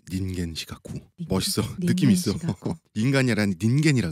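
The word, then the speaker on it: 人間失格: 없어 노롱거 휴망음 근데 인간 실격을 일본어 원어로 발음하면 닌겐 시카쿠 멋있어 느낌 있어 인간이라니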